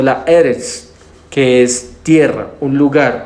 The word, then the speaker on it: Eretz: Sino la palabra dada para esto es otra, que es Ares, o la Eretz, que es tierra, un lugar, un pueblo, o una nación, ¿sí?